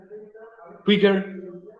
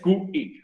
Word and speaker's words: quick: va a significar entonces quicker, más rápido. Ya recuerda, quick tiene una sílaba. Quick. No es QI, no, es quick. Una sola sílaba.